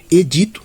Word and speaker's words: edito: Edito, também é assim que se pronuncia, se pronuncia, tá? Edito, tá? Se aí no caso pronunciamento, decreto do imperador. Então, edito também paroxítona, portanto não pode ser nem a E nem a D, tá?